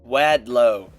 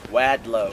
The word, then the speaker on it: Wadlow: His name was Robert Wadllo. I said his name wrong, so this is postrecording. Wadlow.